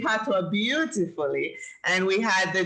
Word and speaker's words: patois: And you're saying patois beautifully. And we had the discussion that patois is actually spelled P-A-T-O-I-S, but it's pronounced patois, P-A-T-W-A.